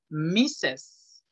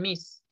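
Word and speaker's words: Mrs.: el suelo decir mis esto se pronuncia la segunda misses no digan mis o másters esto es mi seis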